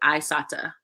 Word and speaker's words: Isata: Oh, yeah, I pronounced her name wrong. I asked her how to pronounce it. Isata. She, Isata, that's a beautiful name.